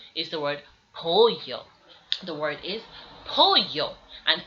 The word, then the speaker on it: pollo: The two L's beside each other give you the name ella. And these are pronounced like the letter Y, so they give you a y sound. And an example used is pollo, which means chicken.